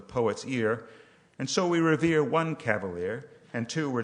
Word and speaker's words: Revere: midnight ride of Paul Revere who wrote along with Sam Prescott and William Dawes but revered got the nod because he rhymes with year so one if by land two if by sea was given to mr.